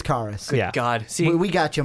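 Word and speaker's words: Caris: man there's no way Chris Levert would or carus Levert I can't say his name did did I say Chris L it's carus God see we got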